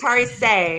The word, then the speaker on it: Tarisai: But It is Tarisai.